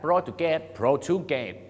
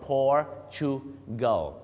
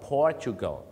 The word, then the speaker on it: Portugal: ไป บอก ฝรั่ง ว่า Oh I like pate pate ไม่ ใช่ นะ ครับ ก็ ออก เสียง ว่า portugal portugal วิธี การ จำ ไม่ ยาก ครับ ถ้า คุณ นั้น ขับ รถ นะ ฮะ for Wheel Drive Toyota Fortuner Fortuner in portugal นั่น เอง ครับ ออก เสียง เหมือน กัน เลย ครับ Fortuner in portugal Cristiano